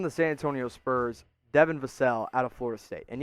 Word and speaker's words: Vassell: And my first-round guy is the pick from the San Antonio Spurs, Devin Vassell out of Florida State. And yes, it's pronounced Vassell, not Vassell, as I was so mistakenly wrong about for so long.